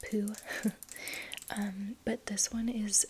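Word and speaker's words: Peau: one is called poo I think it's pronounced poo p-e-a-u French and I think it's pronounced poo um but this one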